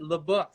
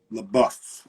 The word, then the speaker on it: LeBoeuf: But now we're here with Sensa and LeBOEUF, which we're really excited about. Yeah. Okay. So that's how you pronounce it, LeBOEUF. LeBOEUF.